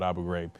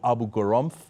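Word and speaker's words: Abu Ghraib: we were torturing people at Abu grab he called it Abu gam Abu gar okay among many different pronunciations so if you're trying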